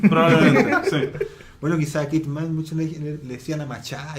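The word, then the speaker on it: Kate Manne: Se dice Kate Mann. Sí. Qué ironía del destino, weón, que una filósofa feminista se pronuncia así su apellido.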